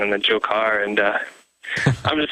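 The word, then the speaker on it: Dzhokhar: So if you just, plug it into like Google Translate or that sort of thing, it totally makes the J sound and the Dzhokar.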